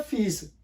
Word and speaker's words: fee: अब नेक्स्ट देखिए लिखा हुआ है फीस। एक्चुअल वर्ड क्या है? एक्चुअल वर्ड ये है FEE। ये किस तरह इसको आप फीस पढ़ते हैं? ये फी है लफ्ज़।